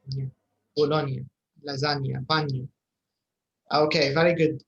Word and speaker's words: Bologna: Okay, Bologna. In Italian بالنسبة للغة الإيطالية عادة لما نلقوا التركيبة هذه GNA عادة النطق نيا زي لازانيا.